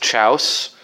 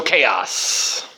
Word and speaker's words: chaos: one I'll show here is against Chouse. And literally the first time I saw that word, Reading in front of the classroom in 3rd grade, that's how I pronounced it. Pretty brilliant. So chaos.